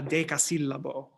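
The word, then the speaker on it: decasillabo: uh libretti is is called a de casillabo which basically means a ten syllable line but really it means the stress the big stress is on the tenth syllable and it can be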